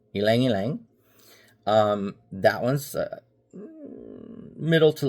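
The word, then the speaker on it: ylang-ylang: We have yang yang. And it's pronounced elang yang. It's not yang. It's eang yang. Elangilang.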